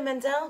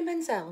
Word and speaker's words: Menzel: this song i'm um what's her name idina mendel what's her name what's her name idina i said it right i'm idina menzel when i'm in the shower or in my